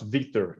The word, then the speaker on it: Vitor: writer how has your week been uh it's pronounced victor it's like it's like victor without the sea